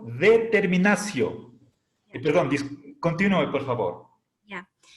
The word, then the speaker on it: determinatio: La sílaba ti delante de vocal se pronuncia sí. Definicio, determinacio.